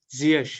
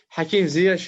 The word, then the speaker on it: Ziyech: presenter about your name and said it was Ziyech. Am I right? Ziyech, yeah, yeah, Yeah. So yeah. that's how you say it. Hakim Ziyech, yeah, that's how you say it.